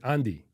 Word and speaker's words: Anri: Her name's Anri. Right. Okay. As Japanese would pronounce it, Andi.